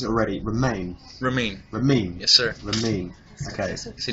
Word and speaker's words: Ramin: People can't pronounce Ramin. Ramen. I get so many different things. How many things are there? I just did the national anthem at Yankee Stadium, and I'm there ready to go. Rahim.